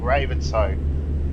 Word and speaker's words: Ravenshoe: Like for example, in northern Queensland, we've got a town called Ravenshoe, but it's spelt like it sounds like Raven shoe. The H is always silent, but I think it is actually Artesia.